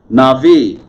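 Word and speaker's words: נביא: a cycle right now na'vi navi prophet okay syllables on the axis on the first syllable nephesh soul life person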